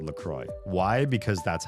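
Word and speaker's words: La Croix: It's pronounced Lcroy. The inventors pronounced it based on the pronunciation of the river, which is a misprononunci misprononunciation of the French word for the cross. It's a river with a cross shape or whatever. Um, but the drink they say even their tagline, their motto for the drink is it rhymes with joy.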